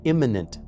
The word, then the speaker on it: immanent: don't make it clear, let me stress the term here is immanent with an A in the middle, not imminent with an I and not eminent with an E.